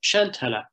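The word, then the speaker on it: Seantalamh: the the causeway uh chantala now this one is very interesting and the final syllable here is an open central vowel as you would get in khan of irish so on chantala and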